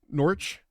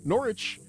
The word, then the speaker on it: Norwich: It is two syllables. You just say it wrong. What? How can it be? Well, then why is it in Norwich? That's That's two syllables. Norwich is I guess two, but there's a W there.